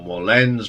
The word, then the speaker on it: Moerlen: So first off this week is part 4 of the Gong story, and we have reached Pierre Moerlan's or Moerlen's version. That's how you pronounce it.